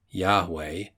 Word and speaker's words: Yahweh: Modern scholarship gives Yahweh, variously spelled Jahve, Jahveh, Yahweh, etc., as the correct pronunciation.